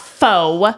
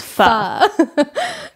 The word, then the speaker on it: pho: It's not pho. It's pho.